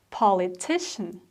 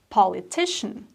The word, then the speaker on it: politician: it's a politician right politician so the main problem is with the second part of the word c-i-a-n is pronounced as politician the same is with